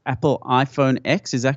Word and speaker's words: iPhone X: I believe it's Apple iPhone X is a correct eight it's about X but it's actually pronounced ten so it's like the Roman numeral is X - 10